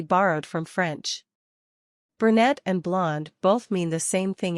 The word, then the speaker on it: blonde: be Brun or BL blonde in both cases the final consonant should be barely pronounced justu blonde means I